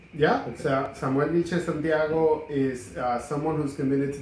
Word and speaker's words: Samuel Vilchez Santiago: Are we pronouncing it right? Yeah, Samuel Vilchez Santiago is someone who's committed to this community.